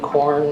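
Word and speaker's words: Quorn: John Bowman, 12229 Corn, that's spelled Q-U-O-R-N, Lane with the fat cats, P-H-A-T.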